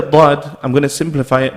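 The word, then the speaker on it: ض: Dad is just like the Sad in pronunciation in the sense that you apply these three rules that I've mentioned, the three golden rules, right? However, Dad, when you're pronouncing it, your tongue should be touching your palate the way you would say the letter Dal.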